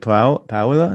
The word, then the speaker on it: Paola: Is it Paola?